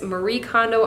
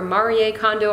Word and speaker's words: Marie Kondo: utilizing the canary method which I believe it's Marie Kondo or Mari a condo I've heard of pronounced both ways so I'm just going to